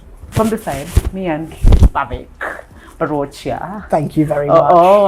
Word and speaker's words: Bhavik Barochia: So guys, that is all I had from the side, me and Bhavik Barochia. Thank you very much. Oh, I pronounced that correct, right?